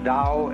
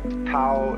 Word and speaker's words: Tao: called the Dal t-a-o pronounced Dao in the Mandarin dialect Tau in the Shanghai dialect toe and the company's